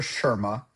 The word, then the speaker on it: Sharma: So it's actually pronounced Dr. Sharma.